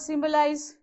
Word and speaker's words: symbolize: How about symbolize? How many syllables you have? So it's on the first syllable itself. Only 3 syllables, so on the first one.